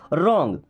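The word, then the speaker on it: wrong: What's means क्या है, रॉन्ग, देखिए इस रॉन्ग वर्ड में डब्ल्यू साइलेंट है। कोई भी ऐसा वर्ड मिलता है जहाँ पे डब्ल्यू के बाद में आर आए तो डब्ल्यू को हम नहीं पढ़ेंगे, ओके।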